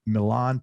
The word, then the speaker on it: Milan: Is it Milan Polak? Is that how you pronounce it? Yeah. Milan.